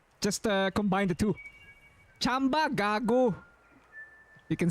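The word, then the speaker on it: tsamba: It It's spelled It's spelled with a ts, but it's actually the sound is actually ch. Chamba.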